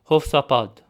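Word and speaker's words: Յովսափատ: So this name is pronounced Hofsapad. Hofsapad, which in English is Jehoshaphat, from Matthew chapter 1 verse 9.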